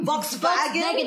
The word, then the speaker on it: Volkswagen: Really? Volkswagen? That's how they say it in German.